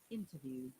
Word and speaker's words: interview: Let's assume it's noun, and the sound should be Interview. interview. We're stressing on the first part. But if you have to use as a verb, then you have to stress on the second part. Interview or Interview. It is really important for us to know where to stress.